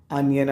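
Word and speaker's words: onion: ശ്രദ്ധിക്കണം അതിന്റെ ഉച്ചാരണം എന്താണ് പ്രൊനൻസിയേഷൻ അനിയൻ ആണ്ട്ടോ ഒനിയൻ അല്ല അനിയൻമടേസ് ഒന്നോ രണ്ടോ ഉള്ളി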